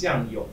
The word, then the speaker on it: Jiang Yong: No, it's his name is Jiang Yong. I can't believe. It's not butter. Right, it's Jiang Yong, Jiang Yong.